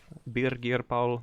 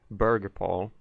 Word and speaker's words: Birgir: And then I joined another Discord of Birgir Paul, or as the Americans would pronounce it, Burger Paul.